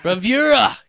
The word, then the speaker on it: Bravura: How's it pronounced? Bravura. Bravura!